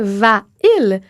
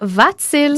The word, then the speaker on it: va-t-il: pour poser une question, on dirait « va-il ». Donc, on a un hiatus. Oui, on sent encore que c'est difficile à prononcer, là. C'est ça, c'est moins fluide. Donc, on va insérer un « t » venu de nulle part, juste pour faciliter la prononciation. Donc, « va-t-il ». C'est vrai que ce «